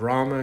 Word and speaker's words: Ram: Savory back for Lord Rama say Lord Rama but in Gujarati or Hindu we call it Ram I have to say